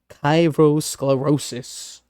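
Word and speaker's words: kairosclerosis: uh from the ancient Greek chyros, a sublime or opportune moment plus uh sclerosis hardening uh pronounced kyroscllerosis.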